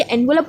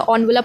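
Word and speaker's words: envelope: अच्छा, ये एनवलप हम बोलते हैं, एनवलप नहीं होता, ऑनवलप होता है, ठीक है, प्रोनाउंसिएशन आप ध्यान रखना, एनवलप नहीं होता, ऑनवलप। Something that was टू बी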